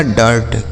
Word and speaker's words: dirt: ठीक है, तो अगर आई के साथ आर लिखा होगा तो आई का उच्चारण आ हो जाएगा, जैसे bird, firm, chirp, शर्ट, डर्ट, hurt.